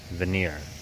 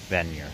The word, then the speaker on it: Vanier: to the gloester district it's not veneer it's venure new Edinburgh it's probably only